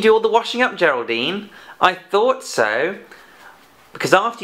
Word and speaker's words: Geraldine: Well done, that's the soft G in Geraldine.